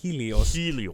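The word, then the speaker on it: Sanghelios: on swords of sangos sangos sangos the g is silent yes uh you'll come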